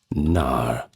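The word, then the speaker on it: knar: Now, they were called NAR, and that's spelled K N A R in contrast to the lean warships.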